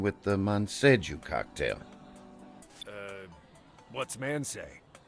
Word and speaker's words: Manseju: What's man say? I think it's pronounced more like Monse.